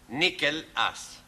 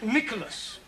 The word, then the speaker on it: Nicholas: Once upon a time, there was a man called Nickel Ass. It's not quite right. No? No. Once upon a time, there was a woman called Nickel Ass. It's pronounced Nicholas.